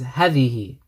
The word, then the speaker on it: هذه: So this actually says هذه, but because this is a demonstrative pronoun that we mentioned previously, that there's a alif here which is pronounced but not written, we need to say هذه.